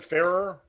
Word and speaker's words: Farrer: say one more time mrs farrer was his teacher okay and that's how to pronounce it fairer that's how i pronounced it all right well then